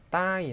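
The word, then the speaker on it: ใต้: 따이 하시면, 얘도 사실은 단독으로 읽으실 때는, 단독을 읽을 때는 이렇게 장모음을 읽으셔야 돼요. 따이 하고. 그래서, 남한 할 때도 까올리 따이. 이런 식으로 길게 발음해야 되는데요.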